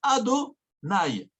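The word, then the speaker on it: Adonaï: mentionner le nom d'Hachem, tu ne peux pas prononcer Yudke Vavke, Yé, comme il s'écrit. Il faut dire Ado Naï, pas Yudke Vavke.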